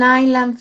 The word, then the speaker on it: island: Okay, Zulema, what are the sites the Staten Island Ferry visits? Here we have the Statue of Liberty. What else? Where else? Ellis Island. Ellis Island. Recuerden que esa palabra island, la S no se le pronuncia.